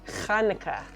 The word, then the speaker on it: Chanukah: should wait you should do it on on hanukkah right so you can have your own hanukkah socks technically it's pronounced chanukah with a only only only the only my